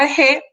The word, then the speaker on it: arché: De hecho, la palabra arjé se escribe realmente arché, pero la CH suena como J pues, en castellano, y aquí vienen muchas palabras, por ejemplo, anarquía es el no principio.